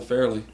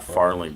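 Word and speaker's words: Farrelly: always called it the Fairly no they're they are called The Fairly Brothers yeah they're not farling Brothers they're fairly Brothers what are you trying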